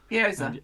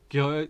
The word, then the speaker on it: Gyoza: a couple of, I don't know how you pronounce them, like that you can get duck in little parcels. Gyoza. And the dipper, goyak or something like that. Gyoza.